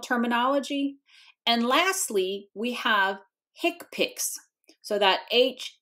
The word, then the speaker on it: HCPCS: and lastly We Have Hips so that HC C PCS is actually pronounced as an acronym hicp and that stands for